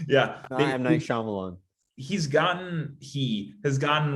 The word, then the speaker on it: Shyamalan: really blown up uh it rhymes with naive shaman yeah i'm nice shyamalan he's gotten he has